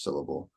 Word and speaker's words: syllable: So when I say syllable, the syll there is what I'm stressing. I say syllable, not syllable or syllable. I say syllable. So the syll sound gets the stress.